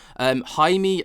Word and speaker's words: Jaime: It was handed over to Jaime Maussan. I think I'm right in pronouncing it this time. Gone are the days of Jamie Maussan. Jaime Maussan, apparently that's how I pronounce it.